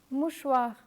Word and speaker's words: mouchoir: When you come across this combination CH, always pronounce it as sh. To facilitate your understanding, let me compare it with the English language. The French CH has the same pronunciation as SH in the English words shop and flash.